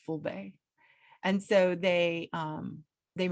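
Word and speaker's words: Fulbe: are called fulani or in their language it's pronounced fullbay and so they um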